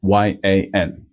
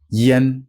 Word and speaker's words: yan: sound so by itself this is written y a n Yen not Yan so Yin with a